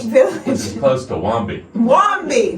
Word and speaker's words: Wamba: And Wombi, interestingly enough, in East Texas is spelled W-A-M-B-A. Wombi. So it's Wamba.